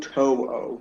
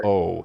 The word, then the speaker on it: To'o: To'o. I looked at the pronunciation guide yesterday. To'o.